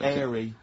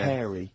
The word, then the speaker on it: hairy: Sorry, I noticed both of you there dropped the H, or the H, or however it's pronounced. I had to. So airy kids, hairy. Yeah. Hairy children, not sort of airy, kind of light-headed or...